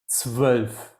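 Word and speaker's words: zwölf: double v yeah so 12 so it's more pronounced like a V than anything else yeah and you already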